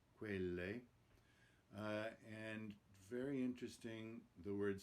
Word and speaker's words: quelle: Notice the closed E in quelle, the last word, it's not quelle, quelle.